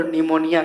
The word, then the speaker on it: pneumonia: Word बताए तो बताओ निमोनिया का स्पेलिंग क्या होगा। तो आप लोग फंस जाते हैं कि न्यूमोनिया तो N से स्टार्ट होगा, नहीं, याद रखिएगा P से स्टार्ट होता है, PNEUMONIA, निमोनिया, न्यूमोनिया, न्यूमोनिया, निमोनिया